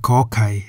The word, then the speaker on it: ข ไข่: The Thai consonant Kor Kai sounds like a K at the beginning and end of a syllable.